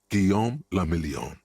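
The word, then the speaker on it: Guillaume Le Million: Guom lameon. If it doesn't rhyme, you're not pronouncing it right.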